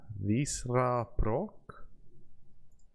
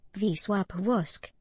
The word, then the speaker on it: Wisła Płock: We are now the manager of Wisła Płock. I'm going to have to search to see how to pronounce that. Wisła Płock.